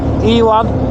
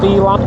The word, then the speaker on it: Elan: So we're heading up to the Elon Valley. Elan or Elon, I think it's pronounced Elan.